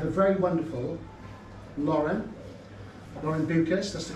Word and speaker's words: Beukes: first we have the very wonderful Lauren Lauren buas that's the correct pronunciation is M that yeah you will see